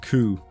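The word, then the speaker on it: Kou: It's pronounced Ku.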